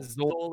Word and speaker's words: Sol: It helps if you actually pronounce it as Sol, like Sol. better call Saul.